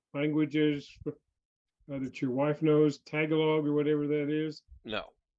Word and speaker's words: Tagalog: did you did you learn any languages that your wife knows, Tagalog or whatever that is? No. Okay. No, I feel bad about that too. I absolutely know very little Tagalog or Tagalog. It's Tagalog.